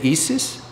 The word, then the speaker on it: Isis: Anyway, that one is massive, but In case you don't know, the name of this one is, I guess in German you would say Isis.